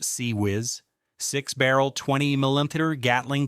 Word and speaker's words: CIWS: Advanced sensors, powerful weapons, including crown jewel of ship defense, failins close-in weapon system, CIWS pronounced CE whiz, sixb barrel, 20 mm